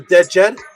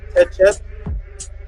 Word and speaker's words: Djed: This is what you'll pronounce as the DJED. It can be pronounced as DJED, TCHED, which is the same as the PESTCHT.